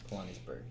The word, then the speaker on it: Pilanesberg: I believe it was called Pilanesberg. Pilanesberg. Correct. It's pronounced Pilanes. Pilanes. I need to get that correct. And Berg belonging to Pilanes.